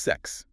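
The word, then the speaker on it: sechs: It's pronounced sex. Sounds like ze. But the mechanics are interesting here. The S at the start is soft like a buzzing Z, but the KS in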